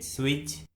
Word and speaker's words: switch: Rule number 1 में हम सीखेंगे कि यदि किसी वर्ड में टी के बाद सी एच आता है तो उस वर्ड में टी कम्प्लीटली साइलेंट होता है, यानी टी का किसी प्रकार से कोई भी उच्चारण नहीं किया जाता है।